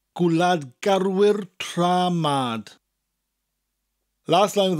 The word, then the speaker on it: garwyr: Gwlad garwyr is a rather long word. Gwlad gar, rhymes with car, wyr. Gwlad garwyr tra, as in the beginning of the word travel.